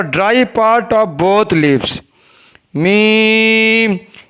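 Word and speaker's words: میم: Meem is pronounced from the dry part of both lips.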